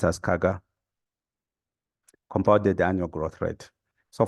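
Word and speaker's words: CAGR: use this word so often in finance it's pronounced as kaga compounded annual growth rate so for example you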